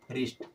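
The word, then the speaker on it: wrist: डब् खत्म हो जाएगा एग्जांपल दिखा देते हैं डब्लू आर आई एसटी क्या हुआ ड के बाद आर आया तो यहां से डब्लू खत्म और ये क्या बचा रिस्ट क्या बचा रिस्ट डबल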